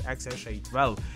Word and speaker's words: XAEA-12: you to elon musk pronounced as xsha12 so regarding their token